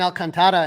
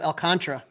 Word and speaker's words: Alcantar: keeps calling Kevin Al it's it's Kevin alcantar instead of el Contra so I mean we're